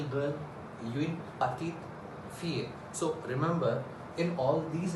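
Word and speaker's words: fier: another world no if I are how to pronounce this word fear fear fear see I'm not speaking clearly or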